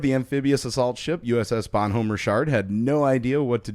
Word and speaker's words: Bonhomme Richard: That's actually how you pronounce it before you laugh. No, Richard? Yeah, that's how it's Really? pronounced. The Bonhomme Richard. Really? Yeah. I just kept calling it Dick the entire time. Yeah. Well, it's French.